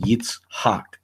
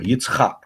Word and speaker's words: Yitzhak: in the Masoretic text, it implies that the name is pronounced Yitzhak, right? Or Yitzchak, however you want to pronounce it.